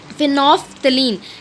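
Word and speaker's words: phenolphthalein: और फिनोफ्थलीन L silent है, ठीक है। तो फिनोफ्थलीन जो है मेरा कलरलेस रहेगा क्योंकि एसिड के साथ वो कोई रिएक्टिविटी शो नहीं करता।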